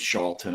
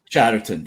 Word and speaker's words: Chatterton: He does have a professional relationship with Miss Charlton. I hope I'm saying it right. I think I'm saying it wrong. But Chatterton? Chatterton, thank you.